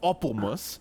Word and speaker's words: Appelmoes: It's pronounced Appelmus, first of all.